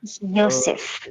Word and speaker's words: Joseph: J was originally pronounced as Y, and Hmm. therefore, in many German names, you will see that people don't pronounce Joseph as Joseph; they would say Joseph.